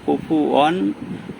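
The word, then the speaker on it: كُفُوًا: আহাদ ওয়ালাম ইয়াকুল্লাহু কুফুয়ান না কুফু হবে কুফুয়ান আহাদ আ এখানে আ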